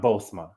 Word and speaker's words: Bozoma: o but it's pronoun bosma so I guess the the second o on it is uh is silent okay she said the